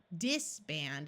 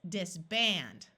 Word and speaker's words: disband: are two syllables and the accent will be on the second syllable so that means we are going to say it a little louder and more clearly so it's not disband it's disband remember double s always